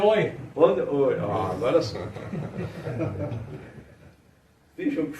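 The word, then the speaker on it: d'Eu: Como se pronuncia? Oi. Oi.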